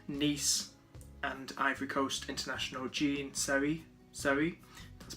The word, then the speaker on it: Seri: the signing of Nice and Ivory Coast international Seri, that's pronounced his surname.